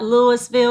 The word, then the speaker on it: Louisville: And today we're in Louisville, Kentucky. You said it right. It's not Louisville. It's not Louisville. It's Louisville. Louisville. That's where we are today, home of the Kentucky Derby.